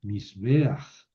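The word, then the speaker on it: מִזְבֵּחַ: La pata furtiva se añadió para facilitar la pronunciación, misbeach.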